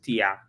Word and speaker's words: Tier: So my name the name tier is is actually a mano name the pronunciation is tia but it spells the same way as tier.